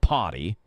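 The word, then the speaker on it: Pawty: Yes, I said potty. P A W T Y. It's spelled like a paw.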